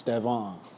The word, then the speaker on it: Stefan: But if y'all want to try to pronounce it when y'all go home tonight, it's Steon.